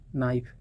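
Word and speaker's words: knife: Okay, here is के is silent letter, okay, in नो, एंड के silent in not. Connaught नहीं पढ़ा जाएगा, कुनो नहीं पढ़ा जाएगा, कनाइफ नहीं पढ़ा जाएगा, कैनी नहीं पढ़ा जाएगा। You will tell नी, नाइफ, नॉट, नो।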